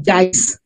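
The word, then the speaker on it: Zeis: আর আমাদের sebaceous gland কে বলা হয়ে থাকে গ্ল্যান্ড অফ জাইস, JEIS, জাইস, জাইস। তবে জাইস উচ্চারণটাই বেশি করতে দেখেছি, গ্ল্যান্ড অফ জাইস।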